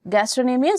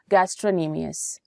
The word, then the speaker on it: gastrocnemius: are three in number gastronemias Soleus and plantaris gastrocnemius you can note the spelling the sea is silent when you pronounce gastrocnemius this one is a